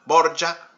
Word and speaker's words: Borgia: de aragón de borja en italiano borja oria que se escribe para poder seguir pronunciarse así en italiano se escribe borgia que es como usualmente